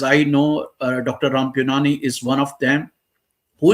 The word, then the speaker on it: Puniyani: Uh just if you don't mind, you can call me Puniyani rather than other things. That's my real surname, Puniyani.